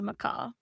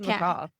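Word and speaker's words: macaque: thought it was a Macau. I think it's a Macau. But what I'm looking it says the second syllable rhymes with back sack or lack mak.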